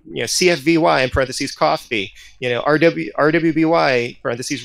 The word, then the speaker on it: CFVY: you know team you know cfvy and parentheses coffee you know rw rwby parentheses ruby you know putting in those pronunciations or going to great lengths to explain